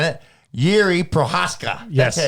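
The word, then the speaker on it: Jiří Procházka: Anyways, speaking about Pesci saying it, Yuri Prohaska.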